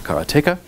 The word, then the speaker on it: Karateka: name is Charles Mangan I pronounce karateka as Kartika the the the binary